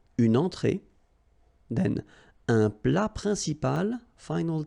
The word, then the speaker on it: entrée: Un apéritif, then une entrée, okay, remember, well, technically this final here is not pronounced, so phonetically it doesn't exist, so it's et, okay, entrée, remember, nasal here, entrée, une entrée, then un plat principal,